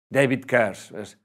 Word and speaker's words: Carse: De David Carse. Va, he dicho en inglés. David Carse.